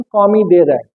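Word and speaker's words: commis de rang: तो वेटर जो है ना प्रख्यात है, मतलब कौमी दे रैंक के हिसाब से, कौमी दे रैंक, इसका जो नाम है कॉमी से है, बट प्रोनाउंसिएशन कौमी दे रैंक।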